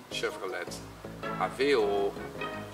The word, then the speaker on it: Chevrolet Aveo: The Dutch pronunciation would be Chevrolet Aveo, or in Twents, Chevrolet Aveo.